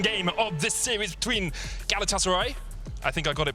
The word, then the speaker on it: Galatasaray: need to say fast i just had a couple of tweets saying don't say galatasaray so it's galatasaray yeah we'll try if